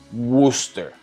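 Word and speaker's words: Worcester: pero se dice conic se escribe worchester pero se dice woster o sea como [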